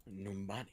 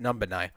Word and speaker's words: Numbani: Numbani. Or as I like to mispronounce it, Numbanai.